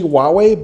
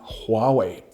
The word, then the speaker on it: Huawei: No, it's not actually Huawei because the H is pronounced pretty clearly in Mandarin Chinese, so the correct pronunciation would be Huawei.